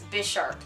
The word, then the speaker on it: Bisharp: I always pronounce it Bisharp, but I'm pretty sure it's Bisharp, like Bishop, because he's supposed to look like a chess piece.